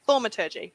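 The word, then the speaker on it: thaumaturgy: up to can i use and pardon my pronunciation thomaturgy yes you can use it thormatiji thormaturgy perfect now i would just like to create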